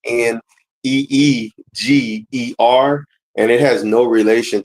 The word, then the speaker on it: Niger: Well, the Niger part I researched is actually Niger. When you go into the pronunciation, it's Neegeer.